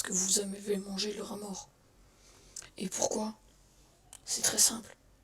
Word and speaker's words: rat mort: Un rat mort s'écrit rat mort, sans T et sans le T. Les 2 T sont muets.